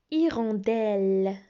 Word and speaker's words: hirondelle: Hirondelle. Hirondelle. E-L-L-E se prononce L, donc hirondelle.